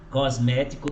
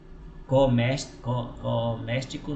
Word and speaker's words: cosmético: Cosmético também, mas aí eu já estou treinando. Cosmético. Cosmético. É cosmético, né? Coméstico não, é cosmético.